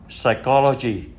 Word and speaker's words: psychology: Kế đến thì là những từ bê phở câm thì có ba từ: pneumonia là viêm phổi, psychology là tâm lý học, pseudomembranes là giả mạc.